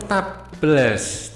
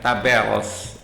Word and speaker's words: tables: data Excel menyediakan fitur taabes tables ya tabels bacanya gitu ya Secara otomatis yang memungkinkan